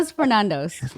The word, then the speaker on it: Stefanos Sifandos: I'm going to say it in the accent as well. That's meant to be the pronunciation that it should be pronounced in.